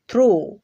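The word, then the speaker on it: through: তবে এর দুই একটা ব্যতিক্রম পাওয়া যায় যেমন থ্রু দো তো এই দুইটা উদাহরণের মধ্যে শব্দের শেষে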